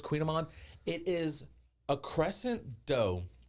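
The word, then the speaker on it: Kouign-amann: It looks like Coogan Amman, but it's Queen Amman.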